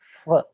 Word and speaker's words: в: It's not like that. V, v. Instead of v, it's f, f. The half sound of f.